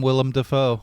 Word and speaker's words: Willem Dafoe: but i love some willem dafoe really really well and william defoe i always call him william willem but i mean we